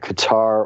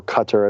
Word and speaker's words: Qatar: it's not necessarily that Qatar or Qatar as properly pronounced is actually in cahoots